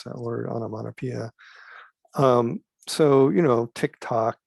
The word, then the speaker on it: onomatopoeia: also what's called the onomatopoeia that's how you pronounce that word onomatopoeia so you know tick tock gluglug these are